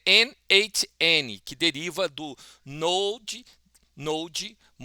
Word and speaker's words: n8n: Eh, e a origem, né, como a gente normalmente teria que pronunciar, é NHN, que deriva do node node node node, que é a junção do nó com automação.